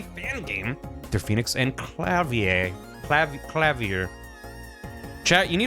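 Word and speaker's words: Klavier: pronunciation within Google clavier so the British pronunciation is clavier clavier clavier American is clavier American pronounces the r at the end more well I'm probably just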